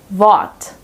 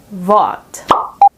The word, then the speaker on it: Wort: Wort. Wort. Since the R is placed right before a consonant, we pronounce it with the silent R here.